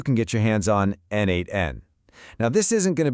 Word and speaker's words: n8n: When we say n8n, and yeah, that's pronounced n8n, we're talking about a workflow automation platform.